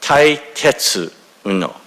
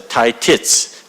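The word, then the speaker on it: Tetsuo: his name and uh tetuo is the proper pronunciation but uh when he was growing up as a young child he said it was the source of being teased and uh he was mentioning the fact that the kids couldn't pronounce tisu so they would often pronounce a titits titits and so that name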